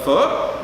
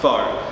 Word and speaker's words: pho: spring rolls today and the one thing that everyone always pronounces wrong which is the foot not the pho so make sure you